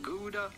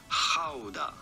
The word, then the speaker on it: Gouda: in Dutch the true Dutch genuine pronunciation is not gouda but rather howda howda so it's up to